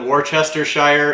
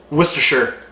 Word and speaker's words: Worcestershire: I once called it Worcestershire and I got ridiculed for a long time. Worcestershire.